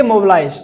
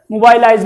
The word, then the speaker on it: mobilize: इसका स्पेलिंग इस तरह है MOBILIZED, लेकिन आप पढ़ेंगे मोबिलाइज, ठीक है, मोबाइलाइज नहीं, मोबिलाइज, ठीक है, मोबिलाइज पढ़ेंगे।